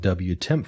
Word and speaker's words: wtmp: in the var log wtemp file. Wtemp, in this case, is spelled WTMP.